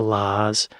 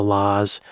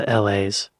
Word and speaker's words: La's: I got to say when I first saw the name the laws I pronounced it the LA's just cuz I don't know La Centric Mike Badger